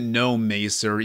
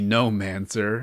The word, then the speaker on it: Gnomancer: He calls it Gnomacer, even though it's definitely Gnomancer.